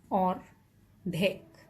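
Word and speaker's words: অর্ধেক: And then the next one is ordhek, which means half. And this is how I'm breaking it down, ordhek.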